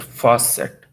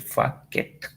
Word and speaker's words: facet: Okay, it is pronounced at facet. Okay, man, I always call it facket.